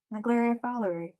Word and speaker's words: Naegleria fowleri: Yes, Naegleria fowleri. That's how I pronounce it.